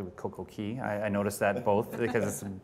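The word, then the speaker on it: CocoCay: when we're talking about coco and you guys pronounce it correctly with coco key i noticed that both because bohemians pronounce it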